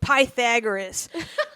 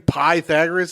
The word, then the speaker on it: Pythagoras: All right, and I'm gonna speak ill of Pythagoras.